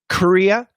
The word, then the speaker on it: Korea: two are right so korea career okay and the difference is right here this is just a schwa and this is a schwa r so in other words this r is super important so if your r